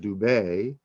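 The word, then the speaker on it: Dubhe: of the big dipper mirak and dubi or some pronounce it dubai b-u-b-h-e and mirak m-e-r-e-k merak and dube and notice that so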